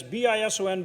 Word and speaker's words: bison: gold figure and and remember bison is that's bison but it's a z not an s when you when you say it properly but they showed